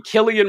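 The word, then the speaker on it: Cillian: But one thing I can't stand is that Killian is spelled with a C. I really hate that. I I really hate that. That That should be Sillian Murphy.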